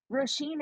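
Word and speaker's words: Róisín: But Roisin is spelled Roisin Conatyi. Is that it? Roisin is like raisin, but with an O instead of an A.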